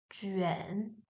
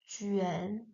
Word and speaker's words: 卷: This character, which means roll, like the spring roll, is pronounced with the third tone. So, juan, juan.